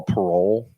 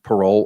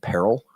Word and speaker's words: parol: considered what we call parole. P A R O L, no E, parole, or some lawyers would pronounce it peril.